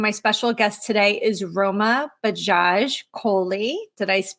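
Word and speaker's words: Roma Bajaj Kohli: Stacy Urich and my special guest today is Roma Bajaj Coley did I pronounce that correct yes good good so Roma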